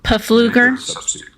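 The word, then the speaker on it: Pfluger: I now recognize Mr fler for five minutes of discussion it's pronounced puger his PE is not silent you know it's a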